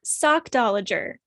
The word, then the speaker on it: sockdolager: what's our word of the week yes uh sock dollager I've always heard this world this world this